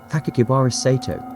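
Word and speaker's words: Sakakibara Seito: Enclosed was a 3-page, 140-word letter, also written in red ink, which included a 6-character name that can be pronounced as Sakakibara Sato.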